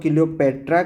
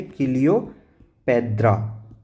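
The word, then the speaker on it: Cleopatra: क्योंकि हम लोग क्लियोपेट्रा कहेंगे और उन लोग अगर उच्चारण करेंगे तो उसको क्या कहेंगे? क्लियोपेद्रा। क्लियोपेद्रा मतलब ये टी और डी एक ही उच्चारण से पता चला।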